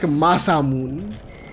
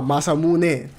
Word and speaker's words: Masamune: Which kinda sounds like Masamun, which is the name of a sword. Or katana. No, Masamune. That's how you pronounce it.